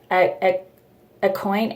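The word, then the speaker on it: Aucoin: concealer Kevin how do you say his name a coin Au u c o i n he's really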